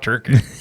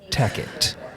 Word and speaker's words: Tackett: Well, you know, it's not Turkett. It's Tackett.